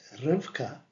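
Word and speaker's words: רבקה: three letters Shin R and hay Rebecca is pronounced rivka and is spelled with four four letters r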